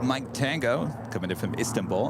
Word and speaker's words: Istanbul: She also reminded me that it's Istanbul, not Istanbul. Say it again. You accent the second syllable.